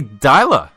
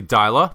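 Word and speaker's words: Deila: any further Ado first topic Paul Ronnie Ronnie daa I was I see I was mispronouncing it the whole time I even referred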